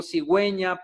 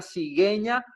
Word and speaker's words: cigüeña: En este caso, ge, gi, para indicar que dicha vocal debe pronunciarse, es decir, la U. Por ejemplo, cigüeña, pingüino, ¿no? Era lo que estábamos viendo en la clase pasada. Es por esto que la diéresis tiene una importancia en su pronunciación en esta sílaba en la U para poder diferenciarla de otras palabras, si no diría cigueña o pinguino.